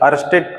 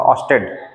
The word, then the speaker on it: Oersted: अर्स्टेड कई लोग पढ़ते हैं, लेकिन इसका सही प्रोनाउंसिएशन होगा ऑस्टेड।